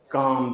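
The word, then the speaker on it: calm: सी ए एल एम काम प एल को आपको पढ़ना ही नहीं है एल का साउंड ही नहीं जनरेट करना आपको इसको सीधे बोलना है काम एल एम एक साथ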